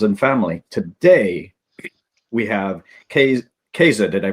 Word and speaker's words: Kayze: Today, we have Kayze. Did I pronounce that right? Kayze, yeah. Kayze.